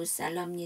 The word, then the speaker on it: solemnly: I, Donald John Trump, do solemnly swear. 여기 전체 슬라이드에서 묵음을 갖고 있는 아이가 있어요. 그쵸? solemnly에서 n이 묵음이에요.